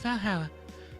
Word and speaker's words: VA-11 HALL-A: or something what H the name sounds silly and a bit hard to pronounce good thing it's actually called Valhalla the funny numbers and letters are just a code anyways I visited this cute